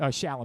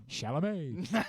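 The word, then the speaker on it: Chalamet: Shalom. There we go. Shalamé.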